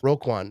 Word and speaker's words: Roquan: do you say his name yeah right smith roquan right yep i i thought i would say